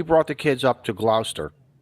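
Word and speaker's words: Gloucester: We brought the kids up to Glouster. Glouster. Sorry. What? Glouster. Glower. How do Okay. How Okay. H how does a Connecticut guy supposed to annunciate this word? Glouster.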